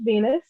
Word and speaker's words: V3NUS: My name is Venus. That is spelled V3NUS, and I am a neo soul artist from Fort Worth, Texas.